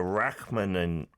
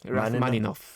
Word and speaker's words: Rachmaninoff: So, uh Yunchan Lim, he made the world go wild with his performance of a Rachmaninoff I'm going to mispronounce this, aren't I? Rachmaninoff? Rachmaninoff. Rachmaninoff. There we go.